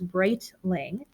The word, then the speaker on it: Breitling: of your names because my last name is bright Ling but it's definitely not spelled like it sounds it's spelled ing but it sounds something different so it's